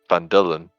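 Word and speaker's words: Phandalin: good and the nearby human town of fandolin pronounced vandalin prospered as well but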